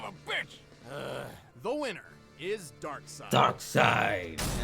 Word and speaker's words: Darkseid: The winner is Darkseid. Darkseid. I still don't understand why they spell it dark and then S-E-I-D. Why don't just say dark side, dark S-I-D-E.